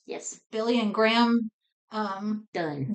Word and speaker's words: Dunne: Um Done. Done. Uh funny little thing. I didn't realize it was pronounced done until the very end of the